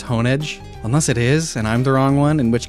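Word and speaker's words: Honedge: It's not hon, it's honeage. Unless it is and I'm the wrong one, in which case that's a bad name. But like it's it's a blade. You hone the edge of it.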